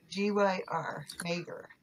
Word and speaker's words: Maegyr: It's Maegyr, Maegyr. That's how it's pronounced.